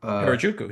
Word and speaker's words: Harajuku: Harajuku, yeah.